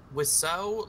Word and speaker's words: Wiseau: Wiseau, like, the name, like, phonetically, it's the French word for bird, but, like, spelled, it's the wrong spelling.